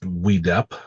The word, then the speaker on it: WDEP: the what is pronounced WEDEP model. It's just an acronym, WDEP, but they pronounce it WEDEP or would up.